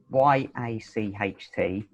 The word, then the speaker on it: yacht: y h a sorry y a c h t um but if you pronounce it y o t that's it just the yacht yeah there's no c h sound in it brilliant good right so